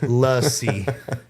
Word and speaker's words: lassi: So, you pronounce it lassy. Rainbow lassi. Okay. Rainbow lassi. Interesting. We'll try I'll try to thought it was like lassie like uh like the the American term lassie.